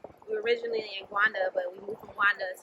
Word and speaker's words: Rwanda: We were originally in Rwanda, or Gwanda is how you say it. We were originally in Gwanda, but we moved from Gwanda to Dar es Salaam.